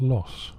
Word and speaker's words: Loos: into the Battle of loose which perhaps ironically is actually pronounced loss GHQ kept the two